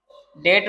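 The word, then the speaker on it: debt: डेट word हमारे पास है, इसमें बी साइलेंट है।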